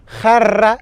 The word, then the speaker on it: jarra: Et puis pour s'hydrater, bien évidemment, una jarra de agua. Donc ça, c'est le mot le plus difficile à prononcer en espagnol. Una jarra, ¿vale? J, et ensuite 2 R.